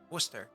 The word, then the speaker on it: Worcester: We pronounce it Worcester.